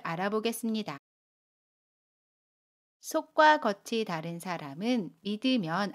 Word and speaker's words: 믿으면: 발음합니다 연인 이에요 미 이들 문장으로 보면 이렇게 발음 해요 속과 겉이 다른 사람은 믿으면 안 돼요 속과 겉이 다른 사람은 믿으면 안되요